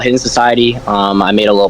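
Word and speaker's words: HIDDNSOCIETY: n s o c i e t y hidden Society put the link in the description right there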